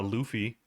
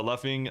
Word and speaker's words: luffing: uh yeah so uh Luffy Luffy no so luffing oh was it luffing I guess so you